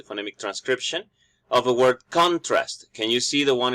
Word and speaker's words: contrast: And on the second example, the stress is producing a verb meaning, contrast.